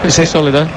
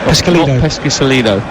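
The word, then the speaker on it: Pescisolido: won for pronunciation Sam PES solido not peso peso no thank you then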